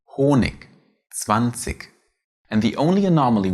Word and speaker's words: Honig: When put at the end, it is spoken softer than the K. Honig, 20.